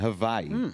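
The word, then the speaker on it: Hawaiʻi: Um, I went to Hawaii. Hawaii with the family. That was good times. Yeah, the locals they don't have a W sound.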